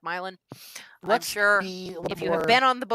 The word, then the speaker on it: Milan: In Ohio, the way her last name is spelled is pronounced Milan.